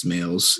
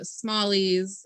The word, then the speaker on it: Smales: Yeah, I mean, I've heard Smalley's is the most common. Like people like to put a CH, like Schmales.